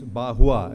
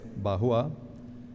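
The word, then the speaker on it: Barrois: philosopher whose name is bahua it's a it's a French name so it's pronounced but spelled as b-a-r-r-o-i-s bahua Jai bahua to be specific who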